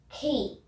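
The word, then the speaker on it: quay: now we can begin our first word is key well it's not ki it's actually q u a y k pronounce k next word is indict actually that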